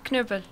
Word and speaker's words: Knüppel: ¿Está bien pronunciado Knüppel así? ¿O cómo se dice correctamente? Sí, está más aceptable. O menos. ¿Sí? ¿Cómo lo pronunciarías vos, por ejemplo? Knüppel.